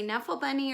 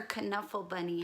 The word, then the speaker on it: Knuffle Bunny: of knuffle bunny books you can say knuffle bunny or canuffle bunny however you would like to pronounce it this book is the